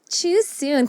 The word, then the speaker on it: Chiu-Soon: Chiu-Soon. Tama ba? Tama Not bang too pronounce? soon. Chiu-Soon.